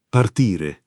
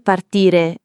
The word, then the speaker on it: partire: Partire. Partire. Partire. Non partire come in inglese, ma con la i chiusa.